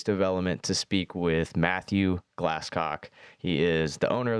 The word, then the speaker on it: Glasscock: Matthew Glasscock, and yes, that is how you say it. It's spelled just like it sounds. Yeah. Glasscock.